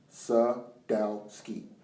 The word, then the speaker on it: Sadowski: of evidence is it sadowski's for his pronounce sadowski suck down ski 2013 piece of evidence